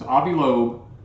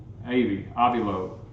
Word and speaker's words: Avi Loeb: It's Avi Loeb.